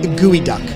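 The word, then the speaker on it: geoduck: duck for people wondering how you pronounce g-e-o-d-u-c-k it's pronounced gooey duck yeah of course he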